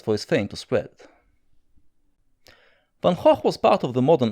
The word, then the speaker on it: Van Gogh: Vincent van Gogh. Yes, that's how you pronounce it. Van Gogh. It's a Flemish name, in the sense that you have to use a lot of phlegm.